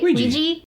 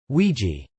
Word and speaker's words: Ouija: For instance, he's in a later film, I can never pronounce Ouija. Is that right? Ouija. Ouija.